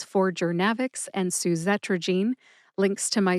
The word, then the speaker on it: Journavx: Thank you so much to Kelly for picking this drug name today, Jernavix.